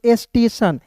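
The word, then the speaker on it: station: उसके बाद देखिए यहां पे एस टी ए टी आई ओ एन स्टेटन नहीं पढ़ेंगे इसे पढ़ेंगे स्टेशन।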